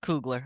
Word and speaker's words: Coogler: Something that I think is just so funny and random though is that Ryan Coogler, the director Coogler. It's pronounced Coogler.